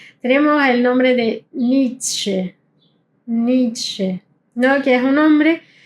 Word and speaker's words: Nietzsche: Nietzsche. Ni- tsche. ¿Bien? Hay que pronunciar, no es Nietzsche, es Nietzsche. Tiene Z. Y no importa en qué lugar esté, si tiene una Z, hay que pronunciarla como ts.